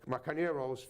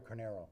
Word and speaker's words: Carneiro: Carneiro's, sorry, that's how you pronounce it, right? There's no I in the end. Yeah, Mario Carneiro.